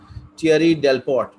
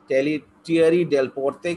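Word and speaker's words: Thierry Delaporte: Wipro right now is Thierry Delport. Thierry Delporte कह सकते हो, Thierry Delport बोल सकते हो, whichever way you want to pronounce it, right?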